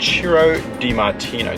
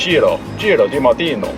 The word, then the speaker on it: Ciro Di-Martino: Today we're in the car with Ciro Di-Martino. Did I pronounce that correctly? Spot on. Thank you very much. Ciro Di-Martino.